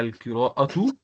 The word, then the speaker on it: القراءة: Hiwayati hiya al-qira'atu. Oui. Pourquoi je dis نعم. al-qira'atu? Parce qu'il y a damma ici. D'accord? Donc, je dois la prononcer aussi.